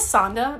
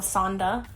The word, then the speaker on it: Sanda: me, were one was Sanda. Now I have no idea what this is, but Santa, but replace the T with a D is how it's spelled, Sanda.